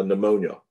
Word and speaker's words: pneumonia: t like like uh pneumonia pneumonia is spelled with a p and then an n so the p is silent it's pronounced pterygoid masseter